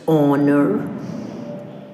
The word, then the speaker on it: honor: H silent words are honest, honor, aghast, echo, and anchor. These are some of the words that have H silent. We do not pronounce the sound H.